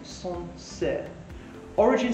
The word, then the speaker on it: Sancerre: the region which is sunset pronunciation is song origin so sansei is actually